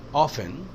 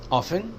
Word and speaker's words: often: Frequently, sometimes, often, usually, frequently यूज़ कर सकते हैं। We drink tea 50 to 60%. Often, often भी कैसे हैं? It's okay, often या often दोनों सही है pronunciation.